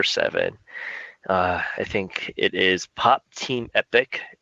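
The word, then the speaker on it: Pop Team Epic: I think it is pop team epoch is how you pronounce that all time yeah pop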